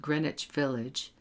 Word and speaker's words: Greenwich Village: A neighborhood in Manhattan called Greenwich Village, note the pronunciation, is also called just the Village.